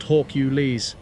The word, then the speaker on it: Hawkules: that little Fiasco with hawkules and Spark Chris is pronounced hwk you Le and yeah you guys